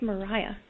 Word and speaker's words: Maria: nonprofit sustainable seafood consultancy Maria your name is spelt ma RI aah that I say Maria or Mariah it's Mariah Thank You Mariah Mariah